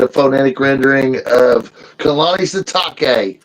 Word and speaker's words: Sitake: phonetic rendering of Kalani Sitake. So I'm going to consider he's like a shiitake mushroom since he laid an egg at Texas Tech. So we're going to say Kalani Sitake.